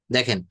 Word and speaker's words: the: দেখেন, এখানে শব্দগুলো খুব সুন্দরভাবে বলতে হবে। এটা দি এগ বলবো, দি আপল, দি ইউনিভার্সিটি। হুম, না এই যে বলেছি তো ভাওয়েল থাকলে, দেখেন ভাওয়েল থাকলে উচ্চারণটা হবে দি।